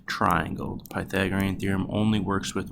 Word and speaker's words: Pythagorean Theorem: Again, that's pronounced Pythagorean Theorem.